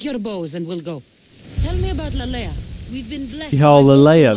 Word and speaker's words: Lalaia: bows and we'll go y'all Alea that's how you say it like Princess Leia but French she's too far away